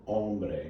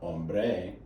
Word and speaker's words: hombre: gets the stress here you have two syllables second to last syllable hombre gets a stress it's not hombre it's notice i